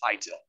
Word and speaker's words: ITIL: do i say it itil yes some people say itil oh this will go idle but i've pronounced it for a long time and that's the way most people do is high till okay sorry to step